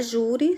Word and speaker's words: júri: Na palavra júri, sílaba mais forte, ju.